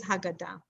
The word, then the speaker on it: Haggadah: But it is Haggadah. Okay, good. So you know how to pronounce it.